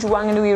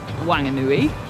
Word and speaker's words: Whanganui: So we are currently in Whanganui. on the Whanganui River. But some people say Whanganui because it's spelled W-H and people can't pronounce F.